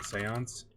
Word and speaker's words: séance: Um, so one thing you see a lot in movies is what, a séance, right? That's how you say it, séance.